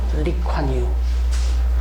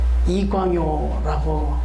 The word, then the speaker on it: 리콴유: 리콴유, 이광요라고 또 이렇게 발음하기도 합니다.